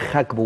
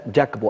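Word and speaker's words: Gakpo: الحقيقه بيقدم نسخه ممتازه وبالمناسبه فيما يتعلق بنطقه هو دائما بينطق خاك بو وليس جاكبو او جاكبو لان الجيم في الهولنديه بتنطق خاء زي مثلا المدافع الشهير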